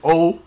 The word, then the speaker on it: OhD: So it's the H is silent, you know what I mean? Yeah, When they just thinking it's OHD, it's really just OD, you know what I'm saying?